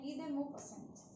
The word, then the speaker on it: Guy de Maupassant: Necklace और ये एक फ्रेंच राइटर ने लिखी है जिसका नाम है गी दे मॉपसेंट। ठीक है, और ये नाम इतना अजीब है कि बाकी लोग इसे प्रोनाउंस करना ही नहीं मतलब चाहते और बोलते ही नहीं है कभी। तो आज मैंने बोला है तो उस हिसाब से याद रखना, ठीक है।